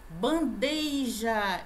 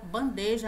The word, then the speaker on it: bandeja: disso sabe disso né bandeija esse ia que não deveria estar aqui é só bandeja a pronúncia pudico galera